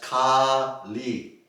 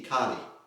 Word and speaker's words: Kali: a long e as Kali versus pronounced from short R and short e Kali Kali as in Kali Yuga refers to the demon Kali it is thought that